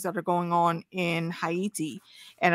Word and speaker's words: Haiti: are going on in hati and I'm saying hati because that's how it's actually supposed to be pronounced but we know it as Haiti and looking at the